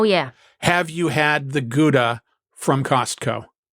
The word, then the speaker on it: Gouda: Have you had the Gouda from Costco? Or as some would pronounce it, the howa because I've been researching Gouda cheese.